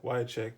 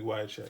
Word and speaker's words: Wiacek: uh bob wyatt check sorry i said it wrong i keep saying why why check it's supposed to be wide check right so this is